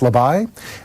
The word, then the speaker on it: Labaj: this is not Barbara Clifford it is Emma labai and Emma it's spelled La badge but it's pronounced lavai Emil is owner of the right step custom